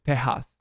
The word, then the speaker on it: Tejas: Like when he refers to Texas, he says Tejas. Actually, that's the way that you're supposed to call it. And that's how it's pronounced.